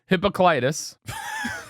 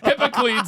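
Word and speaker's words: Hippocleides: The man who who is about to win Hippocitis. No. Hippocles. Hippocles. That's how it's pronounced.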